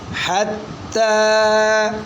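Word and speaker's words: حتى: ज़बरता हत, हा ज़बरता हत, ता खड़ी ज़बरता, ताड़ी ज़बरता, हत्ता। हत्ता। आगे बच्चों ये जो या है ये साइलेंट है, इसको नहीं पढ़ना। हत्ता, हत्ता, आगे आवाज़ ठंडी आए।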